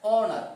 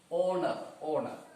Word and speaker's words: honor: Here hospital say, but in this case we are pronouncing it as honor, o, honor. So the pronunciation of these words, these letters, here it is O sound.